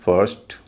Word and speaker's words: first: लेकिन अगला consonant are हो तो आई का उच्चारण ई ना होके अ होता है। जैसे BIRD bird, CIRCLE circle, FIRST फर्स्ट, GIRL girl.